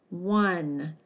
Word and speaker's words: one: Not like I won the game, but like the number 1. O-N-E. 1.